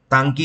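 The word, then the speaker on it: Ntangki: और नागालैंड का जो फेमस नेशनल पार्क है इसको बोलते हैं तांकी नेशनल पार्क।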